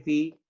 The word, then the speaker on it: phi: En el alfabeto griego se lee Fi y se escribe PHI. Fi. O sea, se traduce como Fi.